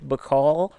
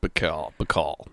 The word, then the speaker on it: Baikal: might be like oh lake mccall or bike hell or however you prefer to pronounce it let's just say mccall but you might say